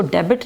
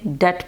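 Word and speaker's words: debt: धोइए बेटी डेट decide क क्या है साइलेंट बोलते हैं लेकिन इसको डेबिट नहीं पड़ते डेट पड़ते हैं डेट क्या पढ़ते हैं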